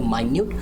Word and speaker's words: minute: भी spelling same है, लेकिन प्रोनाउंसिएशन है, इसको कहेंगे माइन्यूट. माइन्यूट का मतलब होता है बहुत ही छोटी मात्रा में. अब मिनट का मतलब हम लोग सब जानते हैं 1 मिनट 2 मिनट, इसको कहते हैं मिनट.